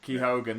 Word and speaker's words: Keoghan: think I'm the only one who gets your surname wrong no most people do so don't worry about it ke Hogan there you go I'm gonna try and remember